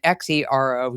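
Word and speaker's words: Xero: um, by the way, the zero is spelled as, you know, it's it's an X er, not a Z. It's an X E O shoes.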